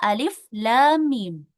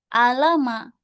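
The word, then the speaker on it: الم: Jadi cara membacanya adalah alif lam mim ya. Bukan alama tapi alif lam mim ya seperti itu bukan alama.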